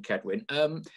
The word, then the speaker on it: Cedwyn: It is Cedwyn, yeah, but I think everyone presumes it's a soft, like, sort of sounding C rather than a hard C. Yeah, right. Okay, but for all Notts fans, just so we know, it's a K. Yeah, yeah. Think of it as yeah, a K, right.